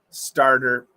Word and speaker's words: starter: that any pronunciation drills starter well it's it's a flap T so you got to get that it's got to be fast star so you can